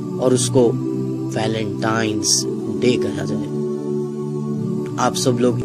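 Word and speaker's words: Valentine's Day: नाम पर गौर करें इसे जो आम कहा जाता है यह वैलेंटाइन डे है लेकिन हकीकत में जो इसका प्रोनाउंस एशन है वह है वैलेंटाइंस डे यह एक वैलेंटाइन वाला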